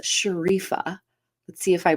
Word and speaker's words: Sherifa: how to pronounce her name I think it's sharifa let's see if I pronounced it correctly please welcome sharifa to the show Good morning yeah Shera sherifa is easy right it is I just didn't